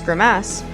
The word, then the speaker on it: Grimace: for its money but Grimace pronounced in Queens as grimass may not be the